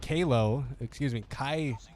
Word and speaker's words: Kaleo: Kaleo, that is how you say that. I don't know why I was saying that wrong this entire time.